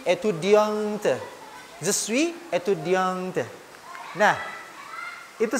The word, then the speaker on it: étudiante: Tetapi ketika yang berbicara itu adalah seorang perempuan, maka di akhir étudiant itu dibubuhkan huruf E. Maka dibacanya je suis étudiante.